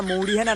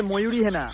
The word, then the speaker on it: ময়ূরী হেনা: আরে মানে লাল পিচিঙ্গি লম্বা কলা, ওটা মানে মৌরি হেনা না, ওটা হচ্ছে ময়ূরী হেনা।